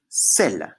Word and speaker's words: celle: Avec le C, pour faire S. Le E devant deux L, le E devant deux L qui fait est, c'est, le.